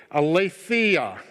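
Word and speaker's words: aletheia: a l e t h e i a a lethea is the is the way that you would pronounce it and here's what it means truth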